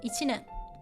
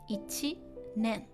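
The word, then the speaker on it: 一年: And this one, ichi is one, and nen. Now it's pronounced nen. So year, so a year. Ichinen. Ichinen.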